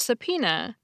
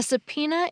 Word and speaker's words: subpoena: Since the B is silent, but I vaguely knew the word had a B in it, I couldn't remember how to spell it.